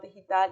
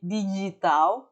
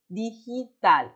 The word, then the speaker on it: digital: também pode falar desenhador digital e está super ok. Lembrando mais uma vez a pronunciação da G em espanhol, que não se fala de digital, não, é digital.